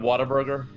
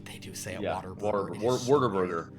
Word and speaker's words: Whataburger: what a burger uh what or pronounced correctly Whataburger Water Burger people say Water Burger really like when I was when I was old enough to realize that it wasn't called Water Burger I was so mad